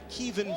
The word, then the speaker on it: Kevan: They call him Kevin Henry around here. He told us it's actually pronounced Kevan Barlow.